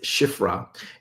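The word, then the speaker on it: שפרה: Hebrew word H8236, and it is the word pronounced Shifra. It is the same as 8235, which is Sephra, the Israelites.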